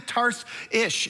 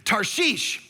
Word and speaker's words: Tarshish: this is first offense, it's not Tarsus, like that's how we grew up learning. It's not even Tars-ish, it's Tarshish, is how you say this.